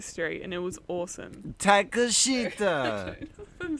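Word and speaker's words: Takeshita: Takashita!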